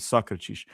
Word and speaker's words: Sócrates: That's how you pronounce it, Sócrates.